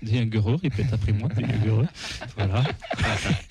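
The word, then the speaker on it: Dejaegere: Non, ça se prononce Déguereux.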